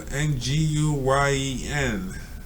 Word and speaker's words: Nguyen: So Nguyen, and from what I heard, it's pronounced as wind. Like a wind.